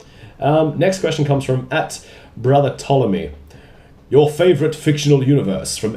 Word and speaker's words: Ptolemy: Next question comes from @Brother Ptolemy. Your favorite fictional universe from anything, games, movies, books, etc. If you are doing pronunciations, the P is silent.